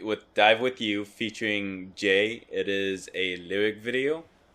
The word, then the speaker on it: eaJ: So this is Jay from Day 6, or with how he spells it when he goes solo, is each, but it's still pronounced Jay.